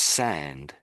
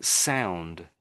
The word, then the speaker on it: sand: So So it's actually pronounced sand. Sand. But when you're saying it, I'm hearing sound.